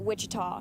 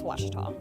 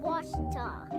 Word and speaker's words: Ouachita: Back in Texas, everybody pronounces it Wichita, but really, it's Washita. Washita. Washita.